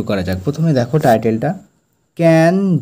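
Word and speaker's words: Cannes: যাক প্রথমে দেখো টাইটেলটা ক্যান ডু এখানে এস কিন্তু এগুলো সাইলেন্ট থাকবে ঠিক আছে উচ্চারণটা আমরা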